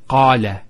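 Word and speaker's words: قال: First one here is qala. Notice the elongation of the A sound. Qala. Not qala. Qala.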